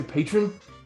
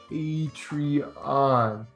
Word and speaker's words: Patreon: can you read it does that say patron no well remember about the pronunciation patreon read it what's it say patreon okay so are we